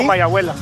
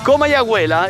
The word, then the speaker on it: Comayagüela: En realidad no estamos en Tegucchigalpa porque aquí Comayabahuela, ¿cómo se llama? Comayabahuela. Comayabuela. Exacto. Lo sabía, pero es tan complicado de pronunciar que prefiero que lo diga él.